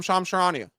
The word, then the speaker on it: Charania: I'm Shams Charania. Like, it's unbelievable. People wouldn't mispronounce Woj.